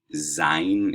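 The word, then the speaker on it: zayin: a v sound um zein is like our z hat is like nothing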